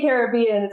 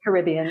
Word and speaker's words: Caribbean: say Caribbean and you say Caribbean. Is that right? Or do I have either way, tomato. She lives the where locals here say they say Caribbean, so I've just adopted that. But I think Americans say Caribbean.